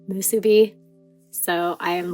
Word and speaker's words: MSBY: post time skip volumes, it even says in the English release that it's pronounced Musubi.